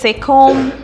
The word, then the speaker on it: comb: Whenever there's MB, like a bomb, thumb, it's not thumb, it's not bomb, it's not comb. The B is silent. Say comb, thumb, yeah?